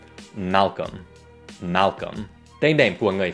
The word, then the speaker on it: Malcolm: Ví dụ, tên của nhà hoạt động nhân quyền này thì các bạn hãy bỏ qua chữ L thứ hai. Malcolm.